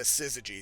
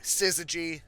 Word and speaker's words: Syzygy: ladies are pronounced the Sysygy Sisters. So Syzygy, kind of like scissors, kind of like a G, Syzygy, Syzygy Sisters.